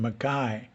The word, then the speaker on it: McKay: And in Scotland, her name is pronounced McKay, and she managed a hotel there for a few months in an area where the Mackays come from.